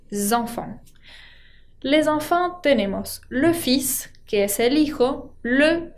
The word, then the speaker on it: fils: va a llevar S y además esa S se pronuncia. Así que es una palabra muy particular y también lo que pasa es que la L no se pronuncia. On prononce le fils, sin L, con S.